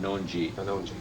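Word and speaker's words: Kanonji: It's pronounced ka like k a w non like k n o w n and g like g e. Kongi kongji.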